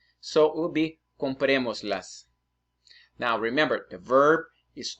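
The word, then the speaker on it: cómpremoslas: So it will be compremoslas. Now, remember, the verb is always more important than the object. So when you say compremos, so that's the strongest syllable. So that would have an accent, okay?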